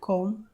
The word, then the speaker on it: comb: m+b পরপর থাকলে এবং বি এর পরে কোনো ভাওয়াল না থাকলে বি সাইলেন্ট, অর্থাৎ উচ্চারিত হয় না। উদাহরণস্বরূপ বম, BOMB বম, COMB কম, THUMB থাম, THUMPNAIL থামনেল।